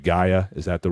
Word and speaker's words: Gaia: I think I'm pronouncing that right. Gaia, is that the right?